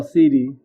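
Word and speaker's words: cedi: I want to know, how do you pronounce the Ghanaian dollar? Is it CD or SETI? Oh, CD.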